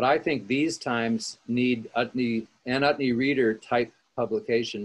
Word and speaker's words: Utne: Utne rhymes with chutney and means far out in Norwegian.